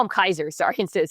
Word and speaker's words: Caesar: The one that she interacts, they call him Kaiser. Sorry, instead of Caesar.